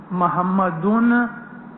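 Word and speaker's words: محمدًا: मोहम्मद रसूलुल्लाह, मोहम्मदिन भी गलत है, मोहम्मदुन भी गलत है। मोहम्मदुन रसूलुल्लाह कभी मत बोलो, मोहम्मद रसूलुल्लाह। अशहदु अन ला इलाहा इल्लल्लाह मोहम्मदन रसूलुल्लाह। अगर पढ़ा लिखा शख्स है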